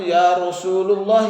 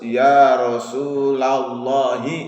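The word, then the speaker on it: يا رسول الله: Nggak boleh salah jangan yarosululoh I itu kakak Susunan kalimat kurang bagus tata bahasanya harus ia rosuulalloh harokatnya Jadi dibacanya ia rosuulalloh Abang katanya yarosululoh jangan nurutin orang yang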